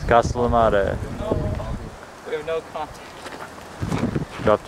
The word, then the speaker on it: Castellammare: It's Castellammare.